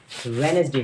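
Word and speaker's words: Wednesday: इसको वेडनेसडे पड़ते हैं इसकी राइट प्रनंसीएशन वेडनेसडे नियुक्ति वेनसडे होती है इसमें डिप साइलेंट होता है यह वेनसडे स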